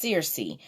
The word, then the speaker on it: Circe: from the Greek mother Circe pronounced Searcy a sorceress who would